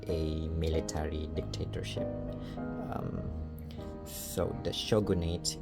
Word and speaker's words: shogunate: So the shogunate, it's pronounced shogunate, not shogunate, because shogunate is an English word. It's not a Japanese word.